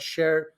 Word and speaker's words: Cher: it is yeah so it's called share and uh I named it uh not because I I love the singer uh especially right now that's spelled s-h-a-r-e sure no no CH yeah so Cher you can find us at uh at share a home so c-h-e-r-a home uh and so you